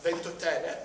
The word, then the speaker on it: Ventotene: uh and we are on the island of voten that's the pronunciation I there are pictures on the internet